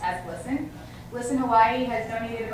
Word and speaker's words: GLSEN: I believe is what it came down to, but it's pronounced as GLSEN.